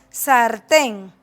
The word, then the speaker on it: sartén: Tenemos también las palabras, sartén. ¿Dónde está el acento aquí? Sartén, en la ten.